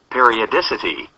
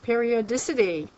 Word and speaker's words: periodicity: the volume way up according to this we can hear how it's pronounced periodicity okay periodicity well that's not hard this